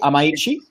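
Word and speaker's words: Amaechi: Am I pronouncing that correctly? Amaichi?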